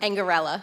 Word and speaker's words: Angarella: How do you say that? Angarella. Angarella.